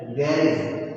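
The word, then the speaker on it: garage: उसके बाद में एक वर्ड द्वारा जिसको हम लोग हिंदी में गैराज या गैरेज कहते हैं, इसका इंग्लिश में प्रोनाउंसिएशन होता है गैरेज। गैरेज, GARAG, गैरेज। क्या होता है? गैरेज। ओके, तो इसका प्रोनाउंसिएशन गैरेज करें, ठीक है?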